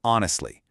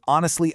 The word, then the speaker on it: honestly: Think of words like hour or honestly. You don't pronounce the H at all. It's an hour and a half, or honestly, I felt it.